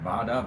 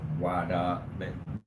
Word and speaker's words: vada: It's like vada, but wada. Different people pronounce it.